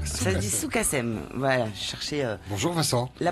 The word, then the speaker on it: Sukasem: Alors, Soukassem. Ça se dit Soukassem. Voilà, cherchez. Bonjour Vincent. La prononciation.